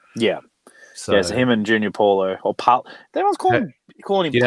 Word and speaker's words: Paulo: So him and Junior Paulo, or Paul. Everyone's calling him Paulo or something else. What the heck is that? Bolo. No, it's Junior Paulo. It's Paulo with an O.